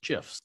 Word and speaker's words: GIF: You know, that's the right way to say that. It's GIFs.